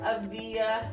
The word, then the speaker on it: Avia: And her name, the correct pronunciation is Avia Story.